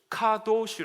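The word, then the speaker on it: קדוש: 카도시 아고 합니다 카도시 근데이 단어를 발음을 할 때에 이스라엘 사람들은 지금도 그렇고 발음할 때 유의점이 하나 있습니다 카도라 말을 할 때에 들어 마시면서 발음을 하면은 절대로 안 되고 한 순간도 들어 마시지 말고 다 내뱉으면서도 이러셔 됩니다 한번 따라해 보시 시작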